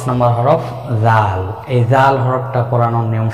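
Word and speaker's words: ذال: জিহ্বার আগা সামনের উপরে 2 দাঁতের আগার সঙ্গে লাগিয়ে 4 আলিফ পরিমাণ টেনে উচ্চারণ করব। জাল, পাতলা আওয়াজে জাল জাল, এভাবে হরফের নামের মস্ক কমপক্ষে 100 বার।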